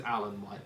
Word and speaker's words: Alain Whyte: well done good thank you but it is Alan white by the way we do know how to pronounce it yeah we do of course we